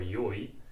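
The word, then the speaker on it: よい: which is e or yoi. Basically, e is a modern pronunciation of the original adjective, which was yoi.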